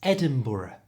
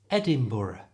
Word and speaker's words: Edinburgh: which for some reason Americans really struggle to pronounce correctly it's Edinburgh the tricky parts of the end and it's pronounced with two schwar sounds brr BR so the whole thing is Edinburough you try Edinburgh and this is its national